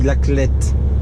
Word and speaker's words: La Clayette: donc la khl est ça s'écrit la clayette mais ça se dit l'athlète moi je vous